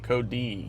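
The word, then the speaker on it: Codee: and then there's Kevin oh yes my name kod it's spelled c o d e e exactly C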